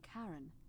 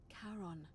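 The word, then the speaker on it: Charon: It's just as you described it, only your pronunciation is a little off. The name you heard wasn't Karen. It was C H. Ah, Karen indeed. As in Karon, the fairyman of the dead.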